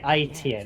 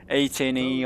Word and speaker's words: AEtienne: Yeah, you pronounce it correctly. IEtienne, AEtienne, or anything you. AEtienne. I got every single pronunciations, but. Yeah, it's nearly the same thing in French, so no problem.